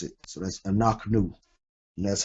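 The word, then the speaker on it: אנחנו: This word is anaknu, being the shiwa. Anaknu. Got your aleph, your quamats. Got your noon with your patak, your chet with the shiwa, noon, followed by the shuruk, anaknu.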